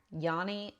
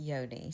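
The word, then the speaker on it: yoni: Yanni oil tasty. I learned at the store that Yanni means vagina. It's actually pronounced yodi.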